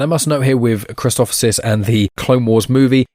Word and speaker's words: Christophsis: It's essentially the name Christoph with SIS at the end of it. Christophsis, it's first seen in